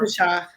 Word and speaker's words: Pesach: How is it pronounced in Hebrew? Passover. Pesach.